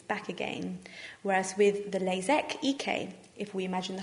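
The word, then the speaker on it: LASEK: types of laser treatment first of all is lasic which is spelled with an ik and the other one sounds exactly the same but it's spelled with a EK lasac and the difference between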